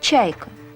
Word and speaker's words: чайка: alors vous connaissez la mouette Eh bien, ça se dit Чайка.